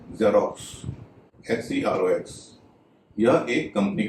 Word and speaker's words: Xerox: जैसा कि शुरू में बताया, एक्स जब शब्द के शुरू में होता है तो उसका उच्चारण ज होता है।